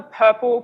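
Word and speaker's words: PRPL: summit last year and it's called the purple pattern so that's how you pronounce it as PR PL and this is a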